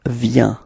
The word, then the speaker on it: vient: So you've got a final T, but then you don't pronounce it.